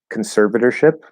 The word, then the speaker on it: conservatorship: Could you break down the pronunciation of, okay, so conservatorship. So conservator, flap D, conservator. That OR is an it's not an or, because it's unstressed. Conservator, conservator, and then ship, conservatorship, conservatorship.